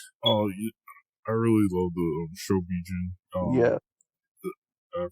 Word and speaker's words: Shobijin: Oh, I really love the Shobijin. Yeah. I pronounced that right?